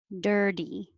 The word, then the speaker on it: dirty: Dirty, the T changes to a D and you need a good dirty.